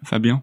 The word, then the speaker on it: Fabien: 3.3, Brittany with Fabien. Am I pronouncing it right? Fabien? Fabien, yeah.